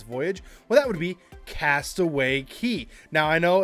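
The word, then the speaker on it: Castaway Cay: well that would be Castaway Key now I know it's spelled Cy but it is pronounced key it's a cool Island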